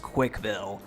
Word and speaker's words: CWCville: Putting aside how much of a terrible mayor Chris would be IRL, the CWCville word is actually pronounced Quickville. The CWC part is pronounced quick, which if you knew